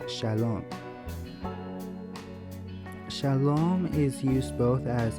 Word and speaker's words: shalom: this word which is actually a hebrew word pronounced shalom shalom is used both as a greeting and